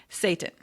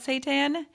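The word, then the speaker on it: seitan: Number two, Satan. Now, I think that is how you say it, but it is not a weird fake food.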